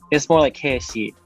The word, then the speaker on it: Keshi: But Yeah, that's the full way of saying it, but the way that it's spelled for me is there's an elongated for each like vowel, so it's more like Keshi.